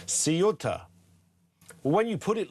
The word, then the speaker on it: Ceuta: It's pronounced as it's written. Seota.